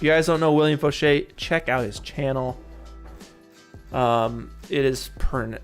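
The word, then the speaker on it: Faucher: guys don't know william foshee check out his channel um it is spelled william like voucher f-a-u-c-h-e-r william foshay he's got the best unreal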